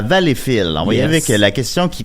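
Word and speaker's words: Valleyfield: souvent vfield non plus puis arrêtait pas de dire valfield valfield puis moi dans dans Tun je dis Valfil parce que bon valallfil on souvent on prononce plus comme ça c'est le nom B c'est c'est Valfil c'est Valfil tu sais fait pour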